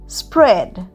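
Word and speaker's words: spread: এস পি আর ই এডি স্প্রেড। স্প্রেডেও এ উচ্চারণ হচ্ছে না।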